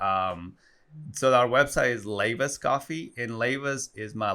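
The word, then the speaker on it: Leiva: so our website is lava's coffee and lavis is my last name is Leyva and it's l-e-i-v-a and it's pronounced like laying back lavas yeah it's a super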